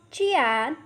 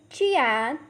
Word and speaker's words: jian: The next Pinyin is Jian, has a pronunciation of Chian. Repeat after me, Chian.